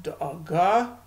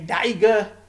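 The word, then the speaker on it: דאגה: So da'aga would be the Hebrew way to pronounce worry, and in plural it's da'agot. But in Yiddish, the language of Ashkenazim, or Eastern European and German Jews, you would say daige and daiges.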